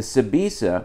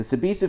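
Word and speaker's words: Sbisa: The Sabisa, which is spelled S-B-I-S-A, the Sabisa family took over the Chandler store and made it into a restaurant.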